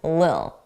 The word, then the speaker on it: little: So we pronounce that as a d, a soft D, little, d, little, d, little, little.